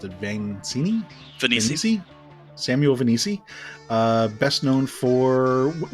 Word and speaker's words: Vainisi: Today's guest is Samuel, how do you pronounce it? Vainisi.